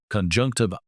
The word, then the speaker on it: conjunctiva: First, let's practice its pronunciation: conjunctiva.